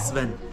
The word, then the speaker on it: Sven: Sven. Sven. Sven. It's Like seven without the E. Yeah. Sven.